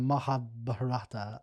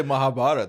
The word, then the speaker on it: Mahabharat: learn more about the mahab mahab how about just say Mahabharat how about that Mahabharat yeah mahabat is yeah